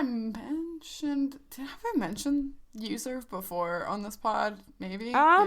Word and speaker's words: Uzurv: It's called Userve. It's spelled Uzurv.